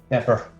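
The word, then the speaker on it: Dapr: How does he pronounce it? Dapper.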